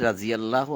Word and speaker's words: রাজিয়াল্লাহু: রাজি, এখানে আমি বলছি রাজিয়াল্লাহু আনহুম, কারণ এই দোয়াত শব্দটাকে কিন্তু জ উচ্চারণ করা হয়। রাজিয়াল্লাহু বলে যে ফরজ শব্দ লাগতে ফরজ বলে, ওটা কিন্তু আসলে ফরদ, কিন্তু কেউ কিন্তু ফারাদ বলে না, বলে ফরজ। এরকমই, অর্থাৎ এই দোয়াত শব্দটা অনেক সময় জ উচ্চারণ হয়, এই জন্যই তারা বলে রাজিয়াল্লাহু আনহুম।